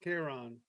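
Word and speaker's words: Chiron: If you agree to become Charin, is it Char or Karen? I don't know how you pronounce that. Kiron.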